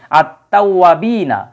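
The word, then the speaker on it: التوابين: আত্তাজিরু ব্যবসায়ী ঠিক আছে আত্তাওয়াবিনা এই যে আলিফ লামের কিন্তু কোন উচ্চারণ হয় না মিনাত তাওয়াবিনা মানে এই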